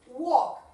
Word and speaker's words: walk: So, he, afirmativa, he can walk. Pronunciame bien el verbo walk. Walk, no walk, ¿eh? Never walk. Esa L no suena.